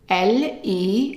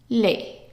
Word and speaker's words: les: don't pronounce the es so here since it's an a how would you pronounce this Le and it's a short a it's not Le just le le and Le is used